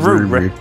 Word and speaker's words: brewery: A brewery. Brewery. It's one of those words where you basically don't pronounce half the word. Brewery. It could basically be B-R-Y.